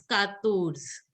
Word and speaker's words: quatorze: Here it is Quatorze. O will be pronounced as O.